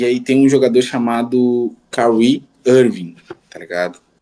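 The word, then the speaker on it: Kyrie: E aí, cara, na minha cabeça, tá ligado, o nome dele se falava Kiri, Kiri Irvin, tá ligado?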